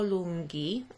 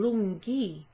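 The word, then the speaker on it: lunghi: h as an h why is there an h in lungi this is because of the pronunciation so if there was not an h in that uh adjective then we would then we would be left with icapelli and that doesn't sound like longer we want it to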